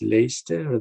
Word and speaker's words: Leicester: you don't pronounce the h uh leicester is pronounced as lester than late chester so i don't think they would understand and say i'll go to leicester and say i go to leicester and then